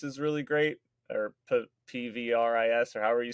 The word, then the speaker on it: PVRIS: of pop music like paris is really great or pvris or however you say i'm pretty sure it's pronounced paris but um their stuff's